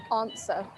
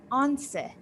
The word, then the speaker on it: answer: Okay, so now we know, yeah, that in British we pronounce it answer, like the W and the R are omitted. So it starts with an answer, answer. Repeat after me, answer. I can't hear you. Answer. Very nice. Okay. Meanwhile, in American accent, it is pronounced answer. Repeat after me. Answer. Answer. Very nice. So different, yeah, with the British one. The American pronunciation for the word start with an N instead of on.